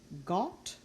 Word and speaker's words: Gott: Over on the other side, we have our open O, pronounced aw, Gott, kommen, Bock. Again, Gott, kommen, Bock. You see multiple consonants after each one.